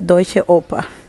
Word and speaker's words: Deutsche Oper: Pues diré que se pronuncia Deutsche Oper.